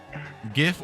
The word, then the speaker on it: GIF: brit in British it's it's it's British to pronounce it with the H I figured interesting I'm learning about culture GIF or GIF it's a gif I don't care